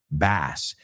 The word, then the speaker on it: bass: And remember, if you're talking about a fish, se escribe igual que la primera, pero se dice bass.